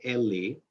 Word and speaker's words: Eli: priest the high priest by the name of eli or ellie we pronounce it or different people pronounce it differently a hebrew it's ali eli in most of the time in english eli was a decent